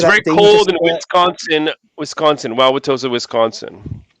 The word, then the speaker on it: Wauwatosa: We're talking about the pronunciation of Wauwatosa. Wauwatosa. It's very Dean. cold in Wisconsin. Wauwatosa, Wisconsin.